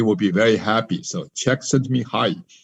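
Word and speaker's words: Csikszentmihalyi: be very happy so check sent me hi that's his name how to pronounce it and that's how he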